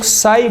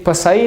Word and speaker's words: psi: इस निशान को हम लोग साई बोलते हैं। साई, ये पसाई नहीं है, PSI, पसाई। ये P साइलेंट है, साई, साई।